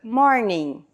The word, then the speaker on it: morning: em inglês good morning Note que a palavra termina com i n g só que esse G ele é mudo no final então Good morning Quando é a tarde